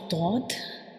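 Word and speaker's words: ضاد: When we pronounce dod, the front part of your tongue will touch the gums of upper front teeth, and at the same time your tongue will touch the molars and premolars of both right and left side.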